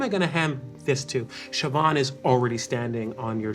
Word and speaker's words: Siobhan: to The Quiet One Siobhan Siobhan yeah that's spelled in the Irish way it was absolutely a million vowels s-i-o-b-h-a-n correct okay uh